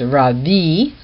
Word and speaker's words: Rabbi: markets and to be called of men Rabbi Rabbi in fact it should be pronounced rabi even in Greek but also in Hebrew and